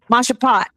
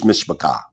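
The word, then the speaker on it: משפחה: Mashapat. No, that's not it. How do you say family? I forgot. Damn, that's family in Hebrew, and family in Hebrew is mishpachah.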